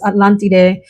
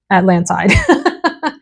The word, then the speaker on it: Atlantide: These two are battling it out for first place in my heart, and that is Atlantide from Tiziana Terenzi, or if you just want to use the American pronunciation, Atlantide.